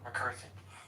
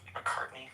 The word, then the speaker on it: McCartney: Do you think they had bitter feuds when McCarthy McCartney, excuse me, I pronounced it wrong?